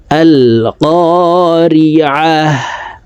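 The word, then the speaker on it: القارعة: আমার সঙ্গে বললে আপনাদের সূরা কারিআহ মুখস্থ হয়ে যাবে এবং সহিহ শুদ্ধ উচ্চারণ হয়ে যাবে। আল কারিআহ।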